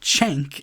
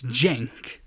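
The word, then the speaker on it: Cenk: I was recording this it's not chank it's Jank but hey better pronunciation than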